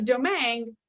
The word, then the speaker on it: Domingue: So it's Domingue rhymes with meringue, as in I prefer meringue topping on my key lime pie. Right? Am I even doing that right, Ben? You're doing a great job. Yep. It Okay. is a Cajun pronunciation of a Spanish name.